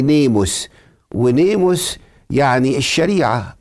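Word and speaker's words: νόμος: الناموس كلمه الناموس دي كلمه يونانيه تتنطق باليوناني نيموس نيموس نيموس ونيمو يعني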